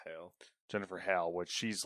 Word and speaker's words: Hale: Like the person that replaced her was Jennifer Hall or Hale. I don't know how to pronounce it. I believe it's Hale.